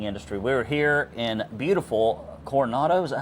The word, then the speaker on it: Coronado: We're here in beautiful Coronado. Is that how you pronounce it? Coronado. Coronado Island uh in California where a glass of wine apparently costs $40.